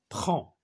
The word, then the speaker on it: prends: je prends هاد دي آخر الكلمة لا تنطق.